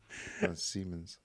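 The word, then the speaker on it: Siemens: e men's so now that you know the pronunciation say Simons oh okay that's what you said I thought you said Simons yeah seamons he can't say for some reason Simons now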